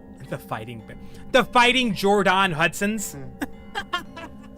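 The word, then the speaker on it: Jordon: It's pronounced Jordan, but it's spelled Jordan Hudson.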